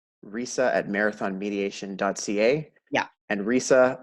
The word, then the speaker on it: Resa: Yeah, And Resa, like Lisa, but it's spelt Resa.